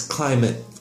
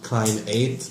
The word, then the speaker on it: climate: Pronunciation wise, it's climate. It's not a long A, like climb 8. No, it's climate.